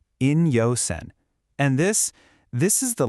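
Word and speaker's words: 陰陽線: These characters are pronounced in-yo-sen.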